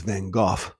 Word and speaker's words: van Gogh: mayonnaise the rembrandts and my favorites the proper pronunciation is van gogh and i realized that that brought me so